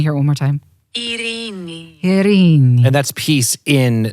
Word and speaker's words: Ειρήνη: Ειρήνη. There you go. You want to hear it one more time? Ειρήνη.